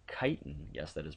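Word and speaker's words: chitin: Uh you can see a picture down here below of of something called kiten. Yes, that is pronounced kiten.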